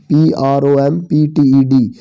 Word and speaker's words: prompted: That जो point, prompted PROMPTED, इसमें टी थोड़ा साइलेंट करके पढ़ना आपने, नहीं पी को, सॉरी पी को थोड़ा साइलेंट, prompted मीन होता है भाई प्रेरित करना, मी मुझे।